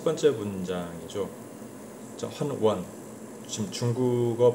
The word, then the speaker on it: 軒轅: 헌원, 지금 중국어 발음으로는 션원, 션원, 그죠?